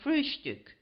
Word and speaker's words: Frühstück: the word breakfast, but always call it Frühstück, with a special emphasis on the first syllable.